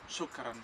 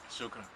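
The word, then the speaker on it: شكرا: Shukran. Shukran. Shukran. Shukran en árabe. Shukran.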